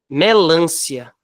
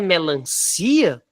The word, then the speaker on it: melancia: que não tem acento melância melância não é melancia não é melancia a sílaba tônica não é o i o si no caso termina com a não é melância melancia bom suficiência tá correto